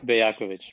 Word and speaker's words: Bejakovic: Sorry we butchered your last name. Uh what is that? Remind us again. It's Bayakovich, but it's been haunting me my whole life.